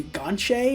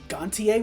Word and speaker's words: Gontier: which I just learned his last name is pronounced closer to Gonche instead of Gontier, which I've always said.